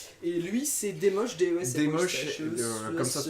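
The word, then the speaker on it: Desmoches: Et lui c'est Demoche, DES, Demoche, comme ça se prononce.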